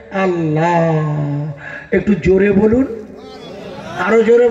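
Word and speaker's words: Allah: লিখবেন বাড়ি গিয়ে দেখবেন আপনার লেখাটা হবে এল এল এ এইচ এ উচ্চারণ হবে আল্লাহ একটু জোরে বলুন আরো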